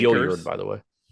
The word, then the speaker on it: Gilyard: It's Gilyard, by the way. It's what? Gilyard. As opposed to Gilyard. Oh, yeah, it's Gilyard. I just happened to see it in like the pronunciation thing earlier and felt the need to correct you.